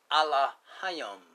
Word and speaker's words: Elohim: And we know that this word is pronounced Allah Hayam.